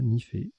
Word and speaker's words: nifé: On a joué Nifé, N-I-F-E. Vous aurez la définition tout à l'heure, ça se prononce bien comme ça, Nifé.